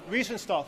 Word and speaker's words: Riefenstahl: And her name was Rennie, I can't pronounce the last name. Riefenstahl. Riefenstahl, thank you.